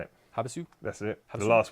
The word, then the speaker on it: Havasu: Havasu?